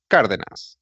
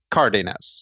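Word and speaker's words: Cárdenas: de na s right which is in Spanish would be pronounced car than us okay I was going to continue angle sighs it presumably it would be Cardenas or somebody no idea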